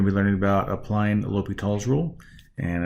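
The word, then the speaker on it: L'Hôpital: be learning about applying l'hopital's rule and i know it's a funny way to the word to pronounce that way that's uh that's the pronunciation l'hopital uh and their different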